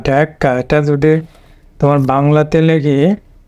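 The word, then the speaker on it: Dhaka: এখানে স্টেজ পড়বে প্রথম সিলেবলে, শেষে সোয়া সাউন্ড হবে, এ হবে ঢ্যাকা ঢ্যাকা।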